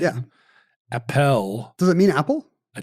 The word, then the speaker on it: Appel: It was Appel, then it was Apple, now it's Apfel. It's not Apfel, though. There's no F.